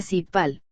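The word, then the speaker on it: 십팔: El número 18 se pronuncia sipal.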